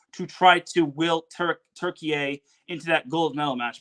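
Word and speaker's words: Türkiye: turkey or turke or turkey a sorry I forget that's the new pronunciation I gota remember it's turkey a not turkey so Italy swept turkey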